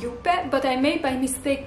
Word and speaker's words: Juppe: color by the way it's pronounced as you pet but i made by mistake pronounce it as jup sometimes because i learned